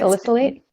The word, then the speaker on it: salicylate: So the methyl salicylate. How do you say this? Salicylate.